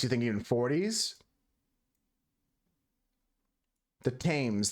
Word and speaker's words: Thames: The Thames. There's no H pronunciation, Husker.